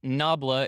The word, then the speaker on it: nabla: a little bit to this right there that's pronounced nabla it is an upside down delta i don't